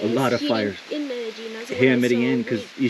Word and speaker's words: Medellín: Alright guys, so this is my last night here in Medellin, or Medellin as the locals say, in Colombia.